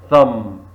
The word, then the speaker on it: thumb: so H silent where thumb thumb very good B thumb listen listen very clear